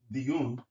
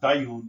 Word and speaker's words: diyun: So when we talk the diyun, which is one word for religion, it could be pronounced dayun if it's spelled D-A-Y-U-N, but dayun or diyun is still the same word.